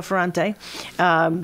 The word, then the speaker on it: Ferrante: We're here with Angelo Ferrante. I'm pronouncing that right? That's correct, yeah. Angelo Ferrante.